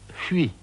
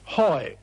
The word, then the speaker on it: Huy: And then he stuck H-U-Y, and just couldn't pronounce Huy. So after a moment's hesitation, he said triumphantly, Hoi!